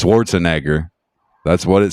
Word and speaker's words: Schwarzenegger: forgot that should be cancelable is uh Arnold Schwarzenegger you're saying his last name yeah Schwarzenegger yeah